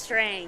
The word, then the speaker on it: Strang: your last name is spelled Strang, but it's pronounced Strong, isn't it? No, it's Strang.